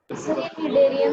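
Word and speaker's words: Cnidaria: निडेरिया में सी भी है। हाँ, निडेरिया में सी साइलेंट है ना?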